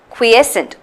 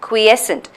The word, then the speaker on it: quiescent: quiescent yes we sent three syllable word quiescent quiescent so it's not christened